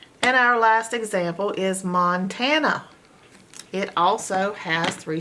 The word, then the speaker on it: Montana: uh mon tan uh if this was normal phonetics this a would say a so you'd have Montana a but that's not how it's pronounced it's an open a that's not X and it with its a sound it's making up uh sound so it's a schwa mon tan na Montana